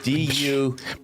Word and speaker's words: Du Bois: It's spelled D.U.B.O.I.S. What other books enraged you? Harassment Architecture. What? No. Du Bois. Why isn't? Because he's American and not French.